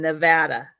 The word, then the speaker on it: Nevada: Just in case you guys on the East Coast have any ideas, it's Oregon and Nevada. Well, how do other people say Nevada?